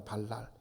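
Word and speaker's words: בָּלַל: 이 혼잡하게 하다라는 말의 뜻이 이 발음이 발랄이라고 합니다. 발랄, 히브리 말로.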